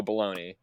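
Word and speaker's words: Bologna: and his name is Joe baloney and I I almost shut it off immediately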